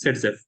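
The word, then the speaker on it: Zaitsev: is pronounced Z Zev it is written as Z but it is pronounced as setf so what does this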